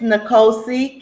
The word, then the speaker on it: Nicosia: me something about your script how do you pronounce it it's nicosia king of new york oh yeah i thought